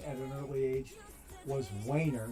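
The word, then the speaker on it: Waner: I know some people pronounce it Warner. Ever since I was just a wee little guy, I had the name Wainer drilled into my skull.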